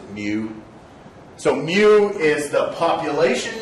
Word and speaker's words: mu: of helps me remember you pronounce it mu so mu is the